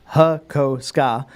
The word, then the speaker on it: Hakosuka: Hakosuka, pronounced Hakoska.